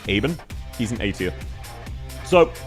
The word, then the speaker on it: Ebenholz: If you pronounce him Ebenholz, then he would go E tier. But if you actually pronounce him with the German, Eben, he's an A tier.